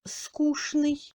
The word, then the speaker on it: скучный: Tchen se prononce normalement comme shn dans les mots скучный, конечно, нарочно, etc.